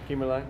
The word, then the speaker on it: Kimmerling: How do you pronounce that? You got it. Kimmerling? Yep.